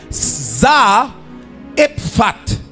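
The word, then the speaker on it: צרפת: La ville de Sarepta, c'est yon ville en hébreu qui prononce Zaa Epfat.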